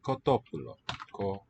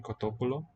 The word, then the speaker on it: κοτόπουλο: Crasi me kotopulo. Koto accented. Pu is written omicron upsilon. Lo. Looks like a neuter. The word for chicken, kotopulo.